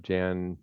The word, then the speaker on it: Jan: Jan or Yan um if you think of Jan like in January that's the canonical pronunciation but they're cool with Yan too um and then